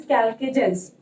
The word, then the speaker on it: chalcogens: These are also known as chalcogens, though the spelling start from C, but the pronunciation is chalcogens.